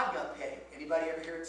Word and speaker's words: agape: And that is always pronounced eta. Now they usually don't say the tough part. And so you would say agape. A. And that's why we put the line over the E to remember that it's a long vowel sign.